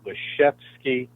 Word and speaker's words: Lisiewski: The name is spelled Lisiewski, but he would call it Lisiewski, a soft F kind of on the W.